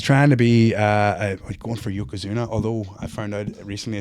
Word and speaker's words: Yokozuna: He's trying to be going for Yokozuna, although I found out recently it's pronounced Yokozuna. Right, okay. Not a Yokozuna, so you're learning.